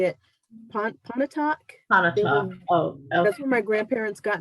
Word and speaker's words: Pontotoc: asked you this before how to say it pontotoc that's where my grandparents got married and then